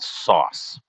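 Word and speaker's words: sòs: sauce the first time the sauce is literally called sauce spelled s-o-s with a with an accent on the o it's just sauce and i love that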